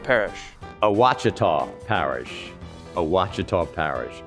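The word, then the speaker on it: Ouachita: at the roosevelt and have a sazerac drink cheetah parish kachita parish cheetah parish alchita wichita maybe it's wichita wachita parish a wachita parish a wachita parish turban parish terrebonne terrabone parish tarabani terrebonne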